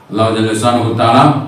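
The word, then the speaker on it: الله: சிலவங்க அல்லாஹ் அல்லாஹ் சொல்லவாங்க. அது அல்லாஹ்ன்னு சொன்னா அது ஏத்துக்கடாது. அது அது அந்த இஸ் அத ஏத்துக்காம போகும் கூலி கிடைக்காம போயிடும். துவா கபூல் ஆகாம போயிரும். எனவே அல்லாஹ்ன்னு சொல்லும்போது அந்த ஹாவ நம்ம வெளிப்படுத்தும் அல்லாஹ் அல்லாஹ் லா இலாஹ இல்லல்லாஹ் நம்ம லாஹ இல்லல்லாஹ் லாஹு சொன்னா அது வந்து அல்லாஹ் ஏத்துக்க மாட்டான். அந்த ஹாவ வெளிப்படுத்தணும் உச்சரிப்ப அந்த ஹாவுடைய சவுண்டு வெளிய வரணும்.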